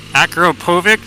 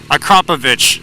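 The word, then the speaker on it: Akrapovič: That's Akrapovic, rather. Akrapovic. That's the correct pronunciation. Akrapovic.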